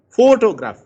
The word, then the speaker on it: photograph: For example, photograph. You can see the fo is louder.